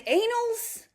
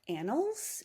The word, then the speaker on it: annals: and I very loudly was like in the anals of history and the whole room got quiet and I was like did I say something?